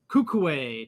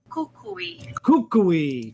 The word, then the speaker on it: Coecoei: core series we're experiencing kukuwe tropical i said it wrong it's kukui tropica be sure to hit